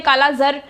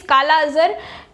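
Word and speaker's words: kala-azar: आगे आते हैं, दैट इज काला अजहर, है ना, इट इज नोन एज, बहुत लोग इसको प्रोनाउंस करते हैं काला जर, बट इट इज काला अजहर एंड इट is also known as leishmaniasis, ठीक है, एंड the agent is Leishmania दोनोवनी।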